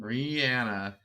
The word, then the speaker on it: Rihanna: That's how she says her name. Rihanna. I have clearly been saying it wrong for a long time.